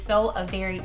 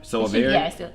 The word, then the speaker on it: Soavari: It is SOAVARI, not Avery, not Avari, Avari. Like a very nice day.